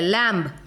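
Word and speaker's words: lamb: लैम्ब, लैम्ब, लैम्ब, इतने तक pronunciation हो रहा है।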